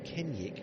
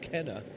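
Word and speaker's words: Kenaugh: front some people saying why would you call him kenek when his name is spelled Kenna k e n a u g h um it's the mans phrasing and actually his dad got in touch and said oi it's kenek not Kenna so um that was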